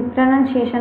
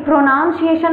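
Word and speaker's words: pronunciation: ये प्रोनाउंसिएशन मत कहिएगा, ये गलत है उच्चारण।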